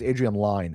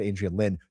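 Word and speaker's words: Adrian Lyne: Uh, but I think it's Adrien Line. I said Adrien Lynn.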